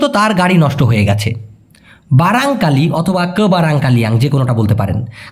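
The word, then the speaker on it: barangkali: যাচ্ছি উনার প্রশ্ন হচ্ছে বারানকালী বারানকালী মানে কি ভাই ভাইয়া মূলত ভাই সঠিক উচ্চারণটা হবে বারাংকালি। মালয়েশিয়ান ভাষায় দুর্ভাগ্যবসতকে মালয়েশিয়ান ভাষায় বলা হয় বারাংকালি অথবা ফুল ফর্ম খারাং কালিয়াং।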